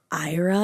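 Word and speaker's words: Éire: quaint isolated part of I think it's Ira is how you say it it's e r e i AA you're supposed to say it with like an accent but I'm not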